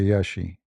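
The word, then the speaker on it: Iași: beautiful country actually yeah when you pronounce it you say yashi like in in in Latin it sound different but they this what I learned from them they say yashi It's not a actually I went not only to Yashi.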